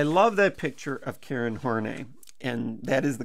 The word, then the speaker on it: Horney: should be I love that picture of Karen horney and that is the correct pronunciation now if she's one of the first